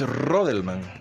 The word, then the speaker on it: Rodelman: ¿Y cómo se escribe Rodelman? ¿Así como se escucha? Sí, R-O-D-E-L-M-A-N.